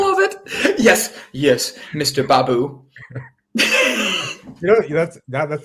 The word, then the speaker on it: Baboo: it yes yes mr babu you know that's that that's the first time you've actually pronounced my last name right is it is it baboo yes do you want to